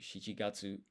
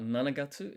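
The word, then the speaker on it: 七月: One interesting thing is July is the 7th month, but it's not nanagatsu, it's shichigatsu.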